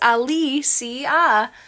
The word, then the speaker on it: Alicia: It's pronounced Alicia. It's because it's Spanish.